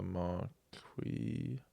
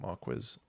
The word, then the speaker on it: Marquis: I'm going to stick with marquee marquee not not marquiz or whatever the other ones were.